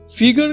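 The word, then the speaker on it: figure: নেটের বুলুনি তত ঢিলে ফিগার কথাটার ফরাসি উচ্চারণ ফিগুর অর্থাৎ মুখের চেহারা।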